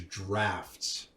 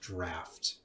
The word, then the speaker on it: Draught: Benefactor's Draft. Okay, people, it's pronounced draft. DRAUGHT, draft.